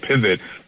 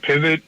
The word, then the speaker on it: Pivet: to talk more about pivot but pivot Communications we spell it p-i-v-e-t it's the phonetic spelling for the word and that e is